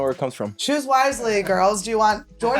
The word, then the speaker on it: Wiseley: is what is that wisely wisely wisely yeah Choose Wisely okay just an extra e in there I don't know where it comes from Choose Wisely girls do you want